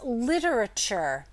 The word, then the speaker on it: literature: literature okay it's literature so it's four syllables but a lot of people end up writing this word literature or literature actually and skip that a um but it does have that a in there this is a schwa sound and so that might be part of the reason why people leave it out it's it's a not a stressed syllable and so it's easy